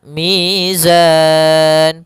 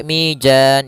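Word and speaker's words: ميزان: Kemudian mizan pada lafal zan mad arid lukun. Hati-hati jangan sampai mijan jangan dibaca dengan jim jangan pula dibaca dengan dzan dengan dzal tapi di sini huruf zai harus jelas zanya za azza maka wa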